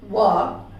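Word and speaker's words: walk: है आपको, वहां पर किसी भी शब्द में MDKF ये लेटर के जस्ट पहले आपको L मिलेगा, तो वहां पर L साइलेंट कर दीजिए। जैसे काफ, वॉक, वुड, शुड।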